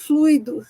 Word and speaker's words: fluido: nós vamos falar dos fluidos sem o icônico duas sílabas só fluido certo que só o